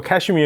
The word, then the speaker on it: 카슈미르: 카슈미르를 써 놓고 영어 애들이 발음하면 카슈미르로 발음 안 하고 카슈미어 이렇게 발음하는 거죠.